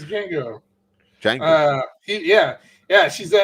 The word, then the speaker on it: Django: I can't even pronounce that. It's Django.